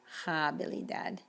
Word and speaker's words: habilidad: And this word means ability, and it's habilidad, not habilidad. La Alhambra, words that have an H in the middle, the H is still not pronounced.